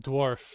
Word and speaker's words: dwarf: Call it dwarf.